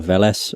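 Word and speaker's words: Weles: Like one of the salutors is called Veles, but it's spelt with a W.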